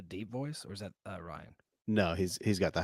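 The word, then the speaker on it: Riaan: right but right right it might just be Ryan but it's r i a a an it's Ryan uh benad day and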